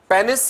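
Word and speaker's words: penis: Male external genitalia की अगर हम बात करें, मेल के एक्सटर्नल सेक्स ऑर्गन्स में पेनिस है, जिसे पीनस भी प्रोनाउंस करते हैं, एंड स्क्रोटम है।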